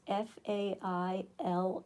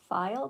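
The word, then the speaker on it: faille: working on that sure could you find out how to pronounce f a i l l e I think it's file how do you think they pronounce it ooh file did I have it right fail fail no no not fail switched toward here it is okay file okay guys it's called cotton file but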